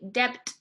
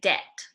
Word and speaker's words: debt: so it's the B the B is silent you don't say debt you say debt so you will see